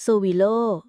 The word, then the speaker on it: Sowilo: ตัว อักษร ที่ 16 โซวิโล่ รูน ตัว นี้ ชื่อ ว่า โซิโล อ่าน ว่า โซ วิ โล สัญลักษณ์ เหมือน เส้น สาย